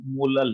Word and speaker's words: molal: अब जैसे capital M को मोलल मोलर पढ़ा जाता है, वैसे इसको कैसे प्रोनाउंस किया जाता है? बोलो मोलल।